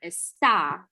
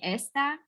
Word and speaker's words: está: So teléfono and Elena está in Omaha. If you don't say está and you say esta, then that means this, like this thing.